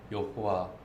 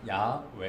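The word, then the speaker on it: 야훼: 그렇게 말했지만 이 세상 그 누구도 하나님의 이름을 욕구와 또 5 또는 그 요점이 이제 그러니까 실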